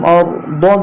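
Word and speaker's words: أرض: হামজা জবর রয়ে জজম আর, দদ জেদি আরদি। এখানে যখন থামবো উচ্চারণটা হবে আরদ।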